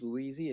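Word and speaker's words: Paul Luizzi: Today we're going to hear from Chief Louisi and Captain Simeon Cheetum. That is spelled Paulluizzi, and Simeon Cheetum is SimeonCheatham.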